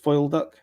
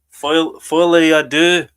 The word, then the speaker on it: Folie à deux: And then the big one we saw Joker 2, Foil Duck. Yes. Folie à deux.